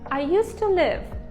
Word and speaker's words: used to live: Зверніть увагу на вимову I used to live. Наголос падає на live, не на to і тим паче не на to.